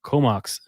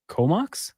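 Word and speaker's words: Comox: ago he was Elite and then Ed from comok comok that's how you pronounce BC yeah I'm not too familiar with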